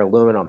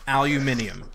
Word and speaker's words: aluminium: do me a favor and put on your aluminum hats, because we're about to go. Okay. Yeah, tinfoil, right? Because we're about to go for a ride. Aluminium.